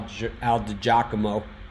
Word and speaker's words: DiGiacomo: What Al is saying is that Al DiGiacomo, pronounced like the horse.